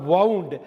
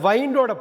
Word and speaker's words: wound: வைண்டுனா கட்டுறது, திருகிறது, முடிச்சு போடுறது அப்படிங்கிறது நம்ம சொல்கிற வவுண்டு. அந்த வைண்டோட பாஸ்ட் டென்ஸ் தான் வவுண்டு.